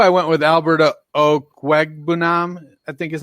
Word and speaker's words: Albert Okwuegbunam: At 2, I went with Albert Okwuegbunam, I think is how John told us to pronounce it.